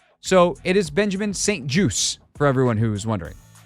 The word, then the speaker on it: St. Juste: name is said Benjamin Saint juice as in a juice box as an apple juice orange juice it is French Canadian